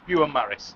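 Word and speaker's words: Beaumaris: is it bu bont I don't want to pronounce it wrong do it say there it's bu Maris Castle um she's run out of maps to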